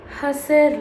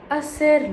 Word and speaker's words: hacer: But I don't say, hacer lo necesario. I never sound out the H. It's always, hacer lo necesario.